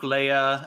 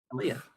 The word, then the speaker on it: Leia: think Admiral Jan dodon he's the one that mispronounces Princess Leia's name Leah come on Janice do better yeah well Luke